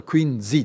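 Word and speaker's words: Quincy: の 12 月にこのクインシーあの阿蘇の歴史家に言わせるとこれ口についての間違いで当時はクイーンズいいという風に発音してたんだという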